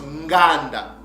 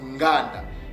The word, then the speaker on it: nganda: Donc, maintenant que vous avez la bonne prononciation de ce mot-là, mes frères et sœurs, que ce mot-là ne se prononce pas gan, mais c'est nganda, ok?